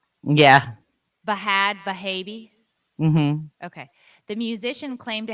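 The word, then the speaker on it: Bhad Bhabie: more how do you say it is it bad baby yeah bahad bahabi okay the musician claimed to have made 71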